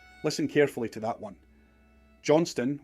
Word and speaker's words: Johnston: Johnston, with the T but no second syllable, is the border and Ulster spelling.